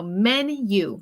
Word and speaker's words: menu: Okay, yo creo que ustedes, pues en español yo he escuchado como menú, pero recuerda que la pronunciación en inglés sería men, como hombres, you, como tú. So menu, menu.